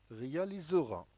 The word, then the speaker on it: réalisera: Lorsque le S entre le E et le I, le S égale Z.